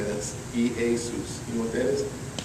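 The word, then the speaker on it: Ἰησοῦς: cuz it's Greek can you say this three syllables E A eus if you can say that e Asus you know what that is that's how you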